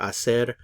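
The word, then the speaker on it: hacer: yo ago remember for acer the h is silent so we don't pronounce it you have to imagine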